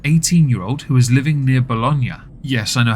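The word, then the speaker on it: Bologna: saman abas an 18-year-old who is living near bolognia yes I know how to pronounce that correctly unlike in previous Halls V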